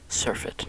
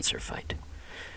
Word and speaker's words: surfeit: Surfeit, not surfite.